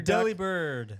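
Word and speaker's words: Delibird: pronounced deli, but it's it should be pronounced del like he's delivering.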